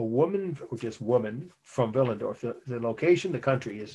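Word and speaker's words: Willendorf: is a woman from villendorf and that's a city in austria w-i-l-l-e-n-d-r-o-f pronounced veal like a v but most people in america say with a w spell w-i-l-l-e-n-d-o-r-f a woman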